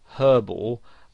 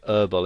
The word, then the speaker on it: herbal: Now, in American English, the word herbal has the H silent, so they pronounce it herbal. Now, you might find somebody actually spells it that way, herbal essences, because that's how they would pronounce it, whereas in British English you would pronounce the H, and you would say herbal essences.